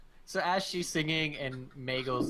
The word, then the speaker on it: Miguel: His name's Miguel, which rhymes with Danielle, which rhymes with Hell.